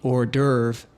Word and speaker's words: hors d'oeuvre: To be certain, let's see how this word is pronounced. The hors d'oeuvre paired fresh squid with orange. The hors d'oeuvre paired fresh squid with orange.